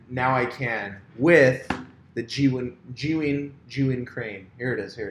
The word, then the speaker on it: Zhiyun: That's how you actually pronounce the company, Zhiyun Tech.